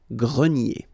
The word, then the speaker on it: grenier: Remember this R here at the end will give you the sound E, nier, grenier.